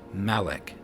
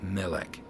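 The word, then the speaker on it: מלך: So here I believe it would be Malek instead of Melech, because you put a default a there and you have Malek.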